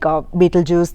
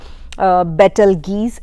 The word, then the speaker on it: Betelgeuse: about the beetlejuice star the word has two to three pronunciations like beetlejuice the one that i just said better geese and beetle geese i felt that battle geese is the right pronunciation but many are using the betelgeuse pronunciation so let's go with that we all know that